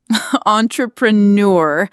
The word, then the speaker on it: entrepreneur: Entrepreneur. I can almost hear the French accent. So it's not enter, it's on. Exactly.